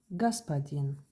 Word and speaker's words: господин: is господин. Господин. But if you remember, we say O became A, господин, because the accent stress is on E.